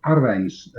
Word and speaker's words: Arwijn: Well, I did look at one of Arwijn's streams not so long ago. Oh, yes. That's actually how you pronounce it, Arwijn. Hey, I'm Dutch, right? And I think you'll find it's wine.